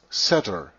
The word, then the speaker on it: Satr: book The Two Babylons, Saturnia was pronounced Satr, S-A-T-R, but spelled with only four characters, S-T-U-R, stir.